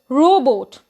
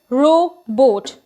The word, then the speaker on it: robot: the last word is robot it is neither robert nor robo it is row boat now we are at